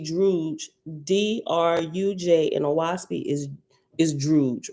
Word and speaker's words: Druj: Figure 4.1a and 4.1b, signs of A, Druj, rhymes with stooge, right? So anytime you see Druj, Druj in Oahspe is Druj, right?